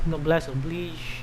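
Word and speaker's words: noblesse oblige: way it's pronounced as no bless oblige and not obliged because it's a french word when i first found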